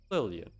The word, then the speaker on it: Lillian: Oh, the name I'll go with uh Lillian rhymes with alien.